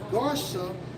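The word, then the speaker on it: גרשם: when you go into the Hebrew for gersam strongs 86- 47 pronounced as garam which means what a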